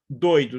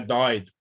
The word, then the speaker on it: doido: Aí é doido, é fechado, não é dóido.